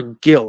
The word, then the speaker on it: Gil: I agree with something he said that Luis Hill, is it Heel or Gill? How do we pronounce his last name? It's Heel, yeah.